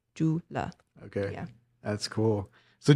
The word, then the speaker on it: Jula: Jula is kind of more like a phonetic, helpful for English speakers to say it. Okay, so that's not really how it's spelled. It's really supposed to be spelled like CULV or A. Like God. Jula. The C makes like a CH.